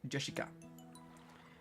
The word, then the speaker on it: Jessica: You see, actually it's pronounced Jessica.